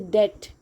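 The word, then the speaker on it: debt: सबसे पहले याद रखना इसको बहुत कोई गलत बोलता है। डेप्ट बोलता है। ठीक है? इट इज़ डेप्ट। B silent है। ठीक है? डेप्ट है ये।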